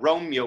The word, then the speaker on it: Romeo: because you could go you could elide romeo to two syllables and make it but romeo may not more validity